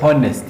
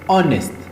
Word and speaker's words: honest: You don't say honest, no. It is honest. H is silent.